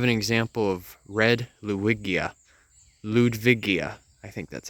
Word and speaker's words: Ludwigia: here we have an example of red luigia ludwigia I think that's how it's pronounced that's where the main batch right here